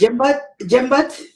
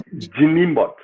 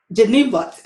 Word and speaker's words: Njinimbot: Okay, so the N is silent. Yes. Jimbot? No, it's Njinimbot. Njinimbot.